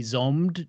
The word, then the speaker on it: Zombied: So he cast me in one of his films as well, Zombied or possibly Zombed, depending on who's pronouncing it at the time. I think it's Zombied.